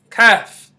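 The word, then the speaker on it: ك: next letter is letter in English we would call it K in Arabic we say okay calf calf and you hear this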